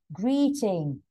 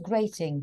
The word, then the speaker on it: greeting: Valentine's Day Green e greeting yeah not great not grating greeting agreed to greet some buddies to say hello yes but great is Big it's good it's wonderful and that's GR e a e a this is e e yeah so it's e